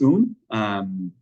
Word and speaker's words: Woong: see on the screen, but it's pronounced like Un, like a moon without the M, or soon without the S, or spoon without the SP, or with the G at the end, in authentic way of pronouncing it in Korean, but that W is silent.